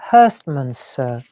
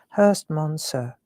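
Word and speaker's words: Herstmonceux: you know where to because it's not as you would think it. That's why I don't know how to say it. I think this is right. Hurstman sir. There you go. That's how it's Hurst Monser.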